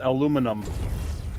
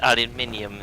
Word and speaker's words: aluminium: he said it right it's aluminum aluminum it's aluminium in here no it's not you're putting extra letters in that ship i